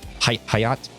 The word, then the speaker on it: Hyatt: tax the Creator how do we do it Hyatt yeah is it Hyatt yeah